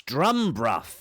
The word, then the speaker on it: Drumburgh: This is where we actually are, a name that tells us something of antiquity, and we can hear that you're saying it wrong. It's Drumburgh.